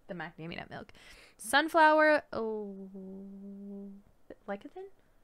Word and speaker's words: lecithin: Sunflower lecithin? How do you pronounce lecithin? I've said lectin my entire life, and now lectin my life sounds right.